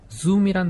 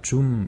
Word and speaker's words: zoom: 10번 단어인데 이 zoom이란 단어도 쉽게 우리가 줌 이렇게 쉽게 발음을 해버리니까 카메라에 줌 렌즈 달려있는 것처럼 네. 예, 그냥 줌 이렇게 하는데 사실은 z 발음이에요.